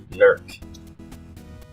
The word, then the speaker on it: Newark: The locals, a lot of them will say, Newark. So there's Newark, Ohio. There's a place in Delaware that's spelled the same way. State of Delaware. They call that Newark.